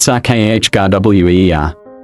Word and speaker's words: Sacagawea: settled farmers and traders, called her Sacagawea, pronounced Sahkajweer, with that TS sound blended.